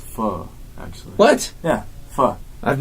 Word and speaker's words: pho: For pho. It's pronounced pho, actually.